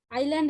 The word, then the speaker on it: island: island එකේ S.